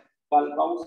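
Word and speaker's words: Kohlrausch: तो खूब आते हैं, कार्ल-बाउस लॉ। ठीक है, साइंटिस्ट का नाम है ना, कार्ल-बाउस लॉ। एच यहाँ पे साइलेंट है। ठीक है, कार्ल-बाउस लॉ बोलते हैं इसको।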